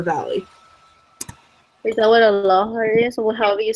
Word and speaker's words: lahar: Is that what a lahar is, or however you say that?